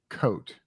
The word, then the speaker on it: Chote: now um Okay so rhymes with boat she says Carolyn coat Chote or coat so